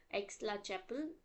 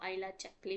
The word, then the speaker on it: Aix-la-Chapelle: उसका कंक्लूजन होता है ट्रिटी ऑफ एक्सला चैपल, जिसको हमारे जो प्रोफेसर्स है वो आइला चैपली भी बोलते हैं।